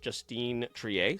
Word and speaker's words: Justine Triet: to say it's pronounced Justine Triet, since she is French.